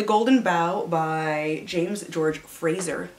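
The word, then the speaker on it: Frazer: bough by james george fraser not frasier it's spelled like fraser and it's very weird which is for research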